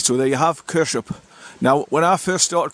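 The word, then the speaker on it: Kershope: in water B right so there you have kers up now when I first started coming here I was pronouncing it curse as way Brit would but um one of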